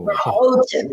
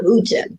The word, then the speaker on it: Houghton: Houghton, not Houghton. There you go. All right. Thinking of hose, not hoe. Thank you. That didn't sound right either. So we're going to get together. Ho. Houghton Lake.